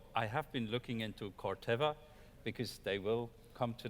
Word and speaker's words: Corteva: Rajan, did your name of your company get pronounced correctly? Corteva, if I can say it, I'm sure everybody can, right? So it got pronounced perfectly.